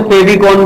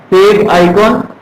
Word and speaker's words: favicon: फेव आइकॉन, लोग इसे फेविकॉन भी कह देते हैं। FAVICON होता, मतलब अलग अलग प्रोनाउंस करोगे तो फेव आइकॉन is correct meaning favourite आइकन।